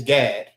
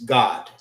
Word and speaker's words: Gad: But Gad is Gad, and in the Hebrew, it's God.